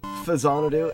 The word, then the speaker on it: Faxanadu: game like back sanity or Fasano as I was told it is pronounced as honor do we're